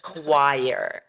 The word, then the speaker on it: choir: And this word has a pronunciation trap because it is not pronounced the way it is like spelled. It is not not it is choir.